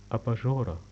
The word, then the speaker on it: أباجورة: table lamp أباجورة. أباجورة. أباجورة ألف ب ألف جيم pronunciation like ج ج واو ر ت مربوطة.